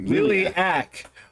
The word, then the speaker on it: Liliac: Liliac. Well, we're gonna go back and just pretend that we said Liliac all the way through the video.